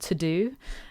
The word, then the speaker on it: TeuxDeux: It's called To Do, and it's spelled TEUXDEUX, like To Do.